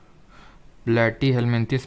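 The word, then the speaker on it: Platyhelminthes: प्लेटी हेलमिंथिस में P silent नहीं होता है, बहुत सारे प्रोनाउंसिएशन गलत करते हो।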